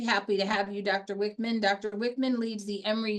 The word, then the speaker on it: Wichmann: He is actually Dr. Wichmann. That's the correct way to say his name. And we're very happy to have you, Dr. Wichmann.